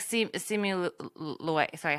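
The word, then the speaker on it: Simu Liu: I think thank you so like see it see me Louie sorry how do you say his last name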